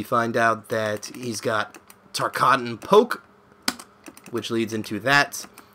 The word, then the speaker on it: Tarkatan: Or I don't know how you pronounce it. Tarkatan. Yeah, Tarkatan. Okay, I'm right.